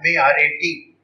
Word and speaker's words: Marat: This man's name was Marat, M-A-R-A-T, pronounced in French Marat.